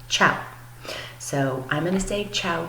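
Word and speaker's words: tchau: how to say goodbye it sounds just like the Italian form of goodbye but it's spelled very differently you say ciao okay and an Italian at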